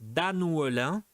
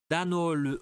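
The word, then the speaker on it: Annœullin: Donc A, Nathalie et Guillaume se marient à la salle des fêtes d'Annouelin. Difficile ça à prononcer. C'est prononcé Dannouelin. Dannouelin.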